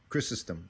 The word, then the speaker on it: Chrysostom: Yep, Chrysostom.